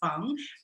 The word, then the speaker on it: Fang: The only time it was mentioned was called Phang, written like Fang, but pronounced Phang.